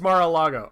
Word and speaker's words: Mar-a-Lago: It is Mar-a-Lago. I keep thinking Mars. There's this musician I really like whose name is Mars Argo, and it throws me off.